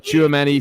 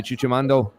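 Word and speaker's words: Tchouaméni: an erratic player um I got the correct pronunciation uh chuamani thank you Stephen ring and what did I say chuchimando but um I mean he's he's an excellent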